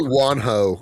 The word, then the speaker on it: Juanjo: Definitely Juanjo, because it's Spanish.